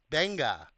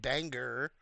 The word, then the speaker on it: banga: it bangha Stu banga I said banga banga not not not not banger banga is palm fruit okay all right back